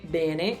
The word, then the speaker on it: bene: Però ci sono delle cose che potrei cambiare, ma non so se sarebbe strano, perché io so per esempio che potrei dire bene invece di bene, potrei dire finalmente invece di finalmente, potrei dire pensiero invece di pensiero.